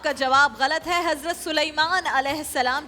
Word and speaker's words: سلیمان: حضرت سلیمان علیہ السلام, جنہیں سلیمان نہیں کہنا چاہیے کیونکہ علامہ کوکب نورانی اکاڑوی صاحب کہتے ہیں سلیمان اصل تلفظ ہے.